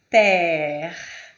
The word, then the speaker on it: père: E o ER com crase, a pronúncia é père.